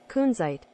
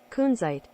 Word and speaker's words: Kunzite: And I also, because we're about to look at it under the microscope cam, I Googled Kunzite pronounce, and here it is. Kunzite. Hey! Kunzite. Slow it down. Kunzite.